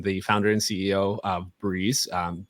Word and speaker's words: BRĒZ: founder and CEO of Breeze um bz not brez although a lot of people think that's how you say it um but Breeze and um Breeze is